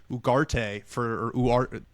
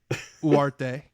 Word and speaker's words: Ugarte: I hope they also play Ugarte it's apparently you don't pronounce the G, which is really tough for me.